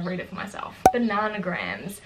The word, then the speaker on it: Bananagrams: Bananagrams. It's kind of like Scrabble. I think it's supposed to be pronounced bananagrams because it's like anagrams, but like I suck at it, but it's fun.